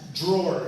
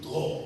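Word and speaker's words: Dror: Drawer is how they pronounce it in Hebrew. Drawer.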